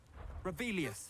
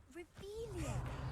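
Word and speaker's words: Revelio: You're Rebellious. saying it wrong. Ugh, Revelia.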